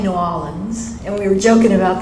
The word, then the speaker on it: New Orleans: You keep saying New Orleans, and we were joking about that earlier.